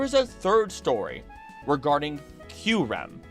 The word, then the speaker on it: Kyurem: I'm also probably going to stop saying Kyurem because it's really weird for my tongue, even though that's the correct way to say it. I'm going to call it Kyurem because that's the way I've always said it.